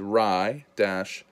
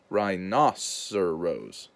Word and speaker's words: rhinoceros: So this is rye-nos-er-os. Rhinoceros.